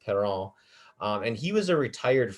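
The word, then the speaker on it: Parrant: perrault now it's not parent uh it's a french name so it's pronounced perron and he was a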